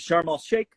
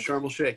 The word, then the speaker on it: Sharm el Sheikh: Sharm el Sheikh, right? That how we say Yeah, it? Sharm el Sheikh.